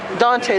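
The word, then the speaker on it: Donte: And we have I'm gonna mispronounce it. Dante, there you go.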